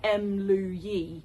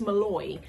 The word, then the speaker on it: Mlouye: to pronounce it because it looks like Mlouye, but it's Malloy.